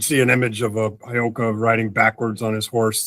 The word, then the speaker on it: Heyoka: Did I get the Heyoka thing right? Did I pronounce that right?